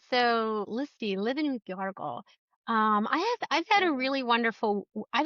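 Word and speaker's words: Γιώργος: Well, in Greek, it's Yargos. So, Yargos, yeah, yeah, Yargos.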